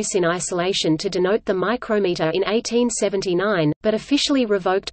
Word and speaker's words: micrometer: In spoken English, they may be distinguished by pronunciation, as the name of the measuring device is invariably stressed on the second syllable, whereas the systematic pronunciation